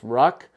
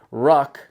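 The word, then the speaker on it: Rukh: is a brilliant design it's called The Ruck I think I'm pronouncing that correctly it's spelled r u k h the holot Tactical Ruck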